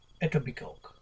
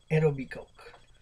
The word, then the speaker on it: Etobicoke: by politician Jean Austine representing the writing of Etobicoke so it's spelled e o b i c o k e Etobicoke lak Shore in Ontario Canada's House of Commons